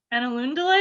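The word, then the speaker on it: Ainulindalë: episode we'll be starting with that in the annaloon delay is that how you say it on a lindelay okay got it so it's essentially genesis yeah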